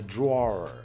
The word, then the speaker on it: drawer: On prononce même pas en deux syllabes en fait.